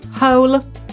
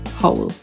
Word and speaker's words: hole: Po brytyjsku hole, po amerykańsku hole.